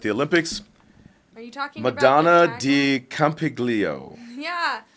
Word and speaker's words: Madonna di Campiglio: his country at the olympics are you talking madonna di campiglio yeah madonna de campiglio thank you do either one of us pronounce that right well i did take italian